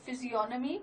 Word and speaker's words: physiognomy: He applied the ancient technique of physiognomy to criminology. Physiognomy, the G is silent here.